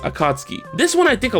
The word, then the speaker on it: Akatsuki: which is actually pronounced akatsuki this one i think a lot of people messed up as well you're supposed to pronounce the u sound but just barely i chalked this up